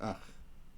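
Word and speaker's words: ܐܝܟ: So the word ach, alep, yud, cap, is ach.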